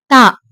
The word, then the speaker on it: ت: மேல ரெண்டு புள்ளி வச்சா தா. பா போடுற மாதிரியேதான் போடணும். ஆனா பாக்கு கீழ ஒரு புள்ளி இருக்கும். தாக்கு மேல ரெண்டு புள்ளி இருக்கும். இது எப்படி உச்சரிக்கணும் அப்படின்னா தா தா அப்படி படிக்கணும். அதாவதுடிஹச்ஏ அந்த சவுண்ட்ல வரும்டிஹஏ தா